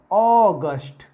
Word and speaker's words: august: And if you use this word as bhavya ya pratapi, then you will have to pronounce it as August. August.